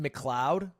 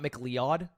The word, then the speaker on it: Kevin MacLeod: His last name is pronounced McLeod. Wait, like Fox McLeod? It's not MacLeod. I've been saying it wrong for 30 years.